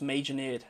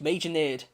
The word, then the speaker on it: Major Nerd: name's pronounced Major Nerd. I saw this one, I was like, I swear he told me I pronounced his name correctly. It's Major Nerd.